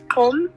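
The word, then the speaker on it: Gqom: It's spelled G-Q-O-M. Qom. G-O-M. G-Q-O-M. G-Q-O-M. So the Q in the African languages is pronounced like a K? So we call that music Qom. Qom.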